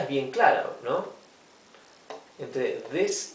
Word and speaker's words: this: Aquí lo he transcrito con doble I, a these, porque quiero que se pronuncie como una I larga, these, ¿ok? Mientras que este es una I corta, this.